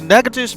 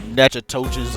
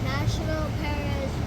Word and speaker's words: Natchitoches: They checked out the Natchitoches Veterans Memorial Park. And I cannot believe that's how you pronounce, uh, that. I I could have sworn it was Natchitoches or whatever, but You want to talk